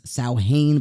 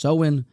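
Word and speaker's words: Samhain: of the seen Nation I thought it was saan but apparently it's pronounced soen where they would have this sort of Festival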